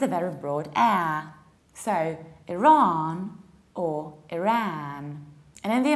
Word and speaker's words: Iran: they decide to say Iran, which is actually the name of Kurdish yogurt. We pronounce it like Iran, Iran, so there is no I, it's I, and you prolong the second vowel, Iran.